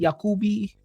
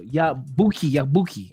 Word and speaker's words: Yabuki: Have you guys seen Masamichi Yakubi? Yakuki? Yeah, no, so Yabuki. I'm saying it wrong.